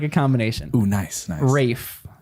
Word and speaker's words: Rafe: Rafe, not Ralph. Rafe. See, you were wrong. Oh, no, that makes a lot of sense. spelled like I've heard Ralph, that but it's as Rafe.